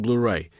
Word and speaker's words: Blu-ray: Exato, é assim mesmo que se pronuncia Blu-ray.